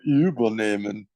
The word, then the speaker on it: übernehmen: über das Schiff zu übernehmen. Zu übernehmen. Übernehmen. Yeah. It's not a separable verb. This is why you emphasize the second part. If it was the way you pronounce it, it would be separable.